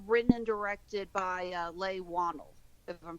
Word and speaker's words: Leigh Whannell: It's written and directed by Leigh Whannell, if I'm pronouncing his last name right. Oh, Leigh Whannell. Leigh Whannell, thank you.